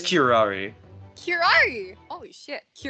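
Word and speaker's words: curare: not special characteristics of cure error and its effects on human subjects is cure how you say it it is kirari here are you holy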